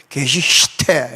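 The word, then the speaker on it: Geschichte: 것이 히스토리에고, 의미로서의 역사, 이 괴시히테, 게슈히테, 독일어는 이 발음하려고 그러면 밥을 좀 많이 먹어야 돼요. 제가 고등학교 때 독일어 선생님이 독일어 공부하려면 밥을 많이 먹어야 된다고, 그래서 자기가 독일어 하다 보니까 이렇게 삐쩍 야였다고 이렇게 주장을 했어요. 게슈히테, 이렇게.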